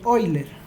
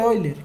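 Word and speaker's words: Euler: hoy se escribe así no es el número de boiler entonces el número oyler quién será el número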